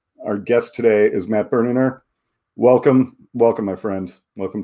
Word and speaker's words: Berninger: Do people try to throw a hard G in your name all the time? They do. I mean, it's even family members often have. It's often been debated how my last name is pronounced. Berninger is.